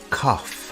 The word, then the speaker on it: cough: Our next question is, do you have a cough? The word cough has an unusual pronunciation. Instead of a G sound, we have an F sound here.